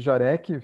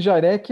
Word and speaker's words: Jarek: Esse Jarek é de origem polonesa, né? Meu bisavô veio lá da Polônia, né? A pronúncia correta seria Jarek, mas ninguém pronuncia assim, né?